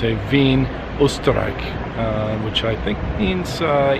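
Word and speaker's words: Wien: lesson for you the Vienna is actually just the English name that you'll see on maps it's actually vein as the pronunciation in German so it's a Veen historic which I think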